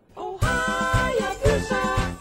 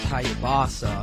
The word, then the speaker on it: Hayabusa: Well, that was fun, even though it is pronounced Hayabusa. No, it's not. It's Hayabusa.